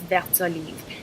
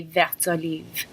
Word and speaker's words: vert olive: But when they're together, it's vert olive because the T is followed by a vowel, so you actually pronounce it when it's together like that.